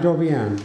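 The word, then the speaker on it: Joviön: J-O-V-I-O-N. Jovian. Not Jovian. That's Jupiter. Jovian is a whimsical term I made up myself.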